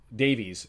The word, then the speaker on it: Davies: David, Kyle Larin, and Davies, who the last one I kept pronouncing it Davis. The influence of watching a Welsh squad is Jonathan Davies turned into Jonathan Davis, and that's on me.